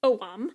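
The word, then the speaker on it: Ogham: Celtic alphabet of oam spelled o g h a m but apparently pronounced oam okay and it is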